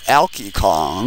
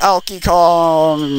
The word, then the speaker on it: Alkie Kong: was so it was olkey kong who oh elky kong i've been saying his name wrong this whole time although he just abruptly